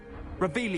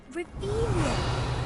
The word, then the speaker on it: Revelio: Revelia. You're saying it wrong. Ugh, Revelia. Much better.